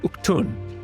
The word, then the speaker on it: Udgan: But that word right there, Udgan, it is pronounced, at least in this game, something closer to, like, Uktun.